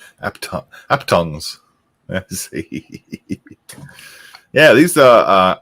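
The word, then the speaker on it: aphthongs: They're called apthongs. Apthongs? A-P-H-T-H? Apthongs. How would you pronounce that, Steph? Good question. Oh, Well presented. I would go at ongs because the H and T's are silent. Aptongs.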